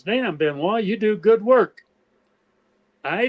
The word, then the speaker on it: Benoist: He said, "I said a lot of guys in the military and stuff pronounce it Benoist, English Benoist, French Benoist. But I said, there are people who know the French pronunciation."